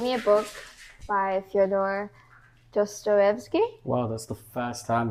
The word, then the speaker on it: Dostoevsky: And he gave me a book by Fyodor Dostoevsky. Wow, that's the first time we pronounced his name right.